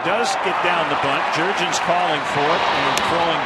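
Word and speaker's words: Jurrjens: Jair, and then Jurgens, just like it's spelled.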